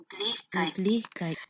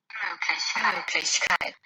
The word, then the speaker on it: Möglichkeit: from these two recordings, the right stress placement is on the first syllable, Mög. From the native recording, we can see that the first syllable has the longest duration and also the highest pitch. However, the participant stressed out the penultimate syllable, lich.